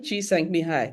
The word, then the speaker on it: Csikszentmihalyi: Mihail Csikszentmihalyi. Okay, Mihai. You'd see that there's no L. I'm not pronouncing any L, right?